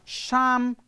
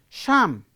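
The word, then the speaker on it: psalm: not an english word the word start with a p but p is not pronounced p is not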